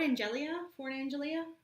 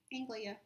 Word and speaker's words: Anglia: Fort Angelia? Anglia.